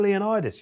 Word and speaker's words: Leonidas: king leonidas is that what it is officially leonidas yeah king of the united he knows states